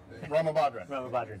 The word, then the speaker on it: Ramabadran: Ramabadran. There we go. I checked on it. Yeah.